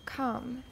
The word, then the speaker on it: come: as ah right uh come come come spell c-o-m-e c-o-m-e come but it has only one syllable and it's not it's